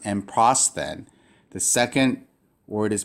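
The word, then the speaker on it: ἔμπροσθεν: So this is pronounced, the first word of this rule is pronounced emprosthen.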